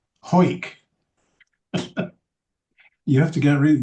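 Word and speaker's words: Hawick: a disappointment to you, the pronunciation of that Scottish name, H A W I C K, is Ho. Yes. Ho.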